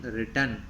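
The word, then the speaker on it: written: The back space helps us to erase what we have WRITEN रिटर्न। Class यहाँ पर W को नहीं पढ़ते हैं, सीधा R से पढ़ते हैं, W यहाँ पर साइलेंट होता है।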